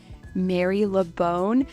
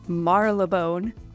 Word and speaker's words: Marylebone: So like this one, it looks like it says Marylebone, but it's actually pronounced Marylebone.